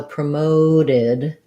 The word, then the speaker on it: promoted: e d says t if my word ends with a t or a d like wanted needed then my ed sounds like id so promoted you're gonna have kind